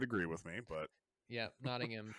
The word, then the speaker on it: Nottingham: our next card is Nottingham Prince John's castle and just so everybody's aware that is the proper way to pronounce that I'm pretty sure jonty would agree with me but yeah Nottingham not notingham it's not Nottingham no